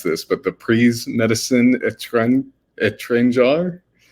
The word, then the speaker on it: Étranger: And I'm going to mispronounce this, but the Prix Médecine Étranger. Étranger.